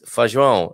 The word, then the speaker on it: Feijão: Hoje vou visitar as piscinas fluviais de Feijão e Pessegueiro. He's going to the river beach, everybody, at Feijão. You've got to be careful, because I'll make it sound like beans. It's Feijão, not rather than Feijão.